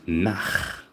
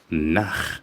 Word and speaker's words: nach: Nach. Now, be careful with the pronunciation of ch. After a o and u remember ch nach. Nach. It's almost like the same voice one makes when you're disgusted.